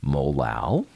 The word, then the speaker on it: molal: That comes out to be 4.00 molal. Molal is how you say it.